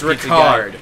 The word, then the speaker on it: Ricard: I still have to keep in mind the fact that his name is Ricard, not Richard. I read it as Richard. It's the French pronunciation.